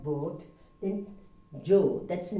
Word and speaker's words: Joe: That is Joe, it's not Jaw.